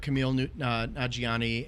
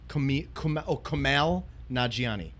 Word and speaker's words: Kumail Nanjiani: You got Tina Fey, Kevin Hart, Camille Nanjiani, and How do you say his name? Kumail Nanjiani.